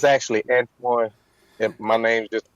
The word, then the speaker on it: Antoine: I'm like, no, it's Antoine. I'm like, okay, Anthony.